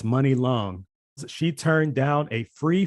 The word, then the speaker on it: Muni Long: the singer money long i found out that's the way to pronounce it i don't want to say how i pronounced it before but anyway it's money long she turned down a